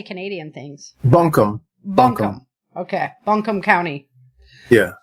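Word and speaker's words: Buncombe: Bunkham.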